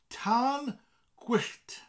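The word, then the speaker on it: tân gwyllt: day not so much fun anyway fireworks is Tan Quest Tom it's fire quick call that double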